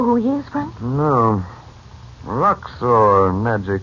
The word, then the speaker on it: Roxor: Roxor, Nadji called him. It sounds like a coined name. As if... As if what? Well, if it's spelled R-O-X-O-R as it sounds, it's spelled the same forward and backward.